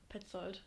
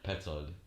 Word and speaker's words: Petzold: It's my name, Petzold. How do you write that? Spell that out for me, please. ANNIKAPETZOLD. Go again. Petzold.